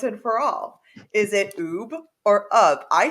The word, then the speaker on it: Ub: got it yep and uh a officially he pronounced his name UB but Walt called him up and therefore everyone in the world called him